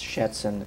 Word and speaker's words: Schätzen: He said the last word and he mispronounced it. It's Schätzen.